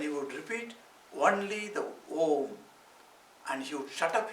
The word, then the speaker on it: Om: It is one syllable. one syllable, we say Om. In that Om, A, U, Ma, like the three letters are there. But when combined together, put together, it is called Om.